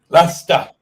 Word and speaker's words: Leicester: We got lots of folks from Leicester who put up content and they don't pronounce the R in the city name. Leicester.